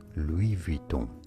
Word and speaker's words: Louis Vuitton: Louis Vuitton is how you say it in French.